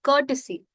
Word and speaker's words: courtesy: The other word of the day which is a complex word is courtesy. Now how this word is pronounced is curt. So it's not cut but it's curt.